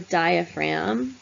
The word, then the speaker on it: diaphragm: and lungs called the diaphragm we don't pronounce the G that separates basically what's